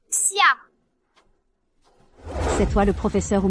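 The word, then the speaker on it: 斜: Au loin, sur la montagne froide, le sentier pierreux sinus, le caractère Xie se prononce Xia.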